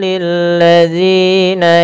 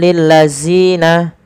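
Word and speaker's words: للذين: Kemudian berfal lilladzina panjangkan sepanjang dua harakat dan hati-hati dalam melafalkannya jangan sampai terganti dengan huruf zai. Jangan kita baca lilladzina akan tetapi lilladzina dzina.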